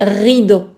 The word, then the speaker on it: rideaux: Et la prononciation Je sais que le R en français est difficile à dire mais donc il faut bien dire les rideaux.